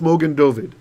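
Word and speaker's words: מגן דוד: is a star and instead of Mogan David it's Mogan doid so a star of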